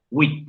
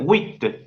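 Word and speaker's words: huit: Ahora, wit. La T suena, Sí. ¿no? Nadie lo discute eso, pero quiero que concentren su atención en cómo se pronuncian esa U y esa I en la palabra 8. Wit, Unidas. wit, Uy. wit. Ahora quiero que concentren atención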